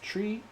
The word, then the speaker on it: Tria: My name is Tria, pronounced Tree.